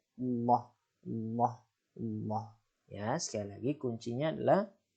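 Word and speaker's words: الله: Yaitu lafaz Allah yang dibaca tebal jika lafaz Allah didahului oleh huruf berharokat fathah dan dhammah, maka dibaca tebal. Allah, Allah, Allah.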